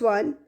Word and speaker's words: one: Next one, a one-eyed man. One. O जो vowel है but sound is bitter of W. W sound is there.